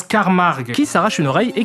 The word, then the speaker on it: Carmack: le professeur Carmack. Non, ça se prononce Carmarg, qui s'arrache une oreille